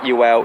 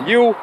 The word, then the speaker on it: Ewell: completely wrong so yes it's not UL it's you uh so yeah we're